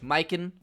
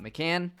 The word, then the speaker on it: Mikan: obviously we got george miken not mccann my bad uh i